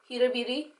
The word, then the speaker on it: Huda Beauty: I am using my Huda Huda H Huda Huda Beauty lashes that's how you pronounce it I'm going to use these lashes